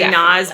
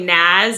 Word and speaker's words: Naz: Like everyone calls me Naz, but I'm actually Naz, and my parents named me after Jesus of Nazareth.